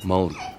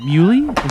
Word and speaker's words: Muhly: genius Protegé sound surgeon his name is Nico mold how do you say it is that right you mean mu is that how you pronounce it hello my name